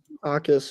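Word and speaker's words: Jacas: Akis, yeah. Yeah, somehow Ty, it's Akis. There's no the Akis. J is silent, like it's Spanish.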